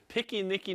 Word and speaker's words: piquenique: by the way, was piquenique no parque. Picnic in the park. How do you say it? Piquenique. Piquenique? No, in the Okay. parque. Oh, it just sounds like no picnic in the park.